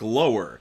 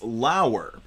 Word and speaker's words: Lauer: so she named me Lauer, rhymes with flower. So I'm like, okay, it looks like lower. And she goes, well, it's not, it's Lauer.